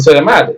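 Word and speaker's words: sigh: ditch ஐ மட்டும்தான் டை அடுத்தது பெருமூச்சு வருது அப்படி சொல்ல பெருமூச்சு எஸ் ஐ ஜிச் சை அடுத்தது தாட் தாட்னா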